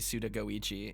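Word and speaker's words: Suda51: Raph says, I never noticed Suda 51 is supposed to be Suda Goichi. Yeah, the 51 in his name comes from the fact that it's pronounced literally Goichi.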